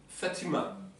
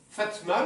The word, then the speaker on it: Fatima: Esmha Fatima. Fatma, là il y a marqué Fatma, c'est la prononciation algérienne. le prénom classique c'est Fatima.